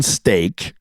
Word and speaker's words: Steeke: T-Bone Steak because it's pronounced like the meat, but it's spelled different.